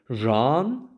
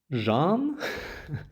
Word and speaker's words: Jeanne: up the pronunciation of Jeanne finally, and while it is a French name, that is actually Jeanne, Jeanne, the English pronunciation does seem to be Jeanne, so I'm gonna stick with that for now.